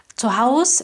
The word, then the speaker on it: zu Hause: Zu Hause – это опять-таки сокращенная разговорная форма, правильно будет zu Hause с «э». Окончанию «э» в конце.